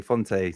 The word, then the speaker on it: Fonte: We struggle with Fonte. It should be Font, but we say Fonte.